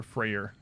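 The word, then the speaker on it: Freyr: Apparently, it was originally um just Frey is how it was spelled, but it was supposed like Freyer was more uh was closer to the original pronunciation and so they added the R.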